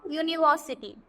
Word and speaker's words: university: भी क्या आया a, क्योंकि यहाँ पर u को ऐसा लग रहा है कि y की तरह प्रोनाउंस कर रहे हैं. तो a यूनिवर्सिटी, a यूरोपियन.